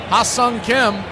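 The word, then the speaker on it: Hye-seong Kim: So, here's your first look at Hassang Kim. That is the corre correct pronunciation.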